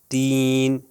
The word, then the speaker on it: تین: ہے۔ دیکھیے تاب، طاب، تین، طین، دیکھیے تین ہلکا، تے جو ہے نارمل پڑھیں گے اور توئیں سے جو